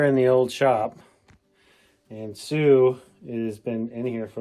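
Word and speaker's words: Sioux: and for the record Sue is spelled s IO ux uh we know there's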